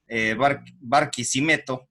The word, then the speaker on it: Barquisimeto: Yo estaba averiguando algunos datos de su ciudad, que es Barquisimeto, así se pronuncia.